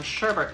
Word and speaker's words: sherbet: Then for food, first I have, now we would pronounce this sherbet lemons, and actually there's an entire history on the linguistics of why the additional R has been added to the word sherbet.